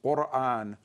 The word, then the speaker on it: Quran: Because its Arabic pronunciation is Quran, and that sound qa does not exist in English, so it now has been changed to K, and the glottal stop